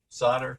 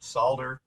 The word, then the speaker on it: solder: of saying solder it pronounce the L or don't pronounce the L it seems like people